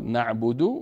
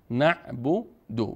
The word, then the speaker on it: نعبد: نعبد و ایاک نستعین اینجا ما بعد از دال نعبدو بعد از دال واو و الف جماعه جمعه نداریم تنها چی هست ضمه هست پس نعب دو وقتی ضمه باشه دال مضموم دو دو دو دو اینجا واو کمکی نداریم دو نمیخوانیم ایاک نعبد